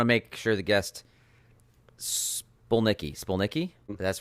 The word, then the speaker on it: Spolnicki: But it's pronounced like it's spelled. Unless you're in Poland, then it's Spolnicki. But we're in the United States, so Spolnicki.